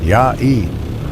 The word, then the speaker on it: Yue: Yue, pronounced Ya-E, Wellington Yue, born in standard year 10082, died in 10191.